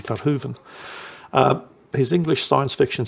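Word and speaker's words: Verhoeven: name properly this time I keep calling him F Hoven well it's dutch should be fuen um his English science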